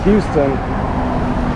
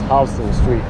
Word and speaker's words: Houston Street: It's actually spelled like the city in Texas, Houston, but the way to pronounce it is Houston Street.